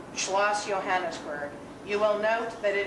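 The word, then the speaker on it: Johannisberg: J is pronounced like a Y. Think of Jarlsberg cheese. So it's Schloss Johannesburg.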